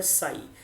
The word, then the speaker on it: psi: इस सिंबल का नाम है साई, जैसे PSI बोलते हैं इसको, लेकिन P साइलेंट होता है, तो इस सिंबल का नाम क्या है?